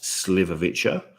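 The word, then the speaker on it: šljivovica: so they pronounce it it looks different to how it is pronounced but it's pronounced sliverwitcher um they drink it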